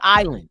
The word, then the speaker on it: island: up oh the word Island you was wonder why is the S silent in island so we looked it